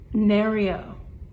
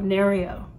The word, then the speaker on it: Nereo: Nereo. N-E-R-E-O, Nereo.